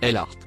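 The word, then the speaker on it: الأرض: jaune que vous voyez il se prononce l art il désigne couramment la terre ça c'est le mot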